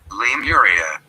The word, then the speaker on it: Lemuria: How to pronounce. Okay, let's see. Lemuria.